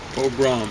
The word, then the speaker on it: pogrom: Pogrom. Or pogrom, they used to people. I think it's mispronounced. I think accent the second syllable.